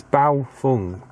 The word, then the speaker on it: Baofeng: The Baofeng, and I pronounced that correctly, I'm sure, because I got a lot of messages about me not pronouncing the name right. So it's Baofeng, I've been told.